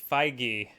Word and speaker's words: Feige: correct for Kevin F pronunciation I'm seeing it's Feige Feige fine okay not okay G or Phi he or Fage okay well the good news